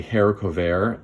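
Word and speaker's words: haricot vert: thinner green bean like a hair cover um which is spelled more like harry covert but it might be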